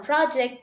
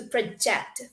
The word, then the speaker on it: project: when i say project the pronunciation differs from project to project so project we are stressing at the end project which is you